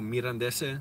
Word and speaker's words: Mirandese: Oh, Mirandese, that's the correct pronunciation.